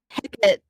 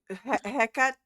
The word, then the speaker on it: Hecate: However, Hecate took on a weasel as a familiar. So I think that's just for Interesting. jilted lovers. They just destroy the Uh-huh. wedding dresses, but, weasel. Wait, did you Hecate or Heck?